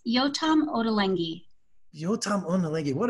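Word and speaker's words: Yotam Ottolenghi: trying to practice to say yo absolutely it's yotam odalengi yotam on the leggy what a great just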